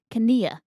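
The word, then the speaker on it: Knie: It looks like knee in English, but it's pronounced Kania.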